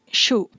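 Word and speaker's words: 手: Onyomi is shu. Remember, it's a short syllable, shu.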